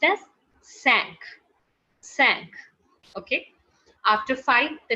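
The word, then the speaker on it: cinq: number is five and five in french is being written down as c i n q and which is pronounced as sank sank which is pronounced as sank sang okay after five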